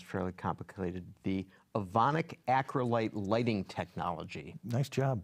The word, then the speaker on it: Evonik: thing on this which sounds fairly complicated the Evonik acrylate lighting technology nice job pronouncing that that's accurate so this is a